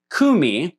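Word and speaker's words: קוּמִי: Now, in official or imperial Aramaic, that suffix would have been pronounced. And so the entire word would have been pronounced kumi rather than cum.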